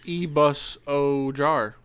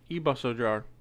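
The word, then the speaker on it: Ibusojar: Pronounced E-bus-o-jar. E-bus-o-jar. E-bus-o-jar.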